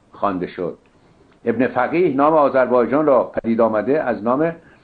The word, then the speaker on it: آذربایجان: تازیان چون قادر به تلفظ حرف گاف نیستن، گاف را به جیم بدل کردن و سرزمین مذکور را آذربیجان نامیدن، از این رو نام آذربایجان به صورت آذربایجان تلفظ شد که اکنون نیز مصطلح است.